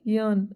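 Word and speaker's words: yearn: ठीक, आज का फोर्थ वर्ड है यर्न। क्या वर्ड है, यर्न, आर इसमें साइलेंट होता है, जिसका मतलब होता है तीव्र इच्छा होना।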